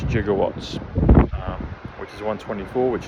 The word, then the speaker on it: jigawatts: Gigawatts the way they spell it um in Back to the Future is uh j i g o w a t t s. I've seen it other ways like the gigawatts, but it's jigawatts um which is 124 which is New Jersey.